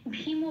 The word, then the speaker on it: ভীম: ভীম, আচ্ছা এখানে ভীমও বলতে হবে, হ্যাঁ যেহেতু ময় হসন্ত নেই, মটাকে ভাঙছি না, সেই জন্য মটাকে ম হিসেবেই উচ্চারণ করতে হবে ভীমও, এখানে কখনো ভীম বলতে পারবো না, ভীমও।